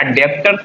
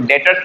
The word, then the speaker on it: debtors: अब देखो इसको पढ़ते क्या, डेप्टर्स नहीं पढ़ते, इसको डेटर्स पढ़ते, बी साइलेंट होगा।